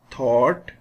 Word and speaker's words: thought: GH is silent in these words. Thought, through, light, might, right, fight, way. In all these words, we don't pronounce GH.